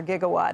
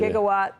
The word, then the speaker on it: gigawatt: Merriam-Webster had two pronunciations for gigawatt until 2013, I think. Oh, shit. Gigawatt or gigawatt.